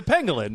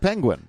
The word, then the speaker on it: pangolin: It's a pangolin. Pangolin, yes. It's a pangolin. It sounds like penguin. It but sounds it's not. like penguin, but it's not penguin.